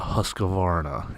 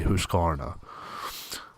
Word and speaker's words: Husqvarna: It is a Husqvarna. Okay. I know a lot of people, they get aggravated when you don't pronounce it correctly the way they want it pronounced, but it is Swedish.